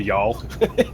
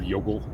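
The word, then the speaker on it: Youghal: certain County Cork beach and be able to pronounce it and stun the world. Going down to y'all. Yeah. Instead of Yogel.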